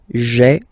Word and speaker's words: j'ai: Remember, when you combine this ai, you get the e sound.